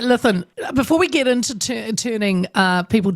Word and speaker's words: Lythan: It's a great Welsh name, and you pronounced it perfectly. It's Lythan. Lythan.